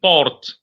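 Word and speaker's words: porte: know a door means Port p-o-r-t-e Port the E the last e that's not pronounced because in French naturally the last letters are never pronounced a window is what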